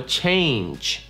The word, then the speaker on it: change: Следующее слово – слово change. Change произносится с двойным гласным звуком A.